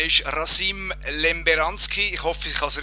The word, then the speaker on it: Rasim Lemberanskij: Sein Name ist Rasim Lemberanski. Ich hoffe, ich habe es richtig ausgesprochen. Er ist, ja. Ist das korrekt ausgesprochen, Rasim? Ja, ist richtig. Rasim Lemberanski.